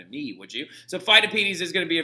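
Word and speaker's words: Pheidippides: me would you so phytopedies is going to be a very important little figure and it's really really funny because like fidivities is another way that you can pronounce his name as well but fidivities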